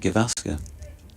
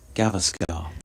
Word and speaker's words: Gavaskar: Interesting that you said Gavaskar and not Gavaskar. As we probably grew up, both of us, listening to Test Match Special. Yeah. With that pronunciation used.